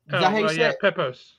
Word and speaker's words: Pepose: Pepose.